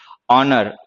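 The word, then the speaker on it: honour: खैर, लेकिन इन सारे वर्ड्स में एच जो है वो साइलेंट लेटर है, प्रोनाउंस नहीं होता।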